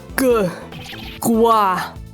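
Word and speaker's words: 瓜: Gua. That's a good pronunciation of the Chinese word for melon.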